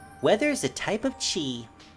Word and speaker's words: chi: Weather is a type of chi. Chi. Sometimes pronounced kai.